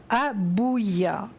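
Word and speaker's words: Habuhiah: Il s'appelle Abouya. Alors ça s'écrit H-A-B-U-H-I-A-H.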